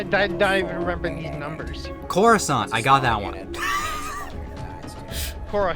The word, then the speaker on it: Coruscant: Coruscant, I got that one. Cora who? It's pronounced Coruscant.